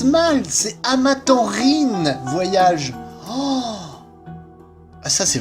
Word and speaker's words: Amaranthine: Waouh, depuis le début de cette série, je le prononce mal. C'est Amatanrine, voyage.